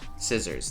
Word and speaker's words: scissors: Scissors, scissors.